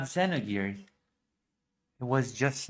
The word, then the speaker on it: Xenogears: Xenogears. spiritual successor to the legendary Xenors came in.